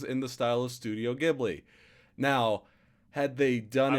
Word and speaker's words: Ghibli: I'd say one of the first things that I'm noticing, especially, well, is it pronounced Gibby? Is that or Ghibli. Ghibli? Ghibli. Ghibli, yeah.